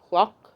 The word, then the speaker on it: caulk: I know it sounds like I'm saying a bad word, but it's not. It's spelled C-A-U-L-K. Clock, but we can say it that way too.